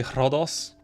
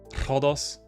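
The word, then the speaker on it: Ρόδος: I learned Greek so I pronounce like the voiceless ancient Greek R just out of habit so I'll say rodos rodos and some people find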